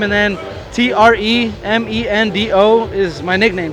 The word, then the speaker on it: Tremendo: first name, and then T R E M E N D O is my nickname. Tremendo. like tremendous except just take off the US and O like Kendo tremendo O baby cuz I'm